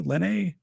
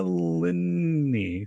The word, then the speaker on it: Lenny: your last name lenny lenny like his two syllables lynn knee like your niece so once you get the lynn down lenny i'm still like lisa linny so i'm just like